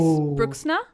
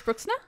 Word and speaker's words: Bruxner: Name wrong, Abby. Oh. Grace Bruxna. Is that better? Yeah, it's brilliant. Perfect. How do you say it, Grace? You said it's just funny you said it in like an Australian accent. Was, yeah, because yeah. I said it wrong. So it's Grace Bruxner.